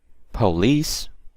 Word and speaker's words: police: Police, second part.